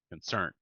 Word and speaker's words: concern: beautiful concert and concern concern concern yeah remember the stress is on the final symbol concern concern contact conclude